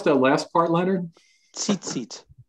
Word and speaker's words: tzitzit: And how do you pronounce that last part, Leonard? Tzitzit. Tzitzit, okay.